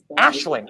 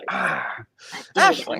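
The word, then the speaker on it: Aisling: The name is pronounced Ashling. Ashling.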